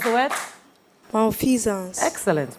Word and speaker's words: malfeasance: Can you pronounce the word? Malfeasance. Excellent. Malfeasance.